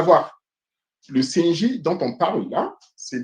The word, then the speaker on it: Senj: Donc, ces peuples-là, les S, donc le Senji, ça s'écrit S-E-N-J. On prononce Senji. En fait, Senji.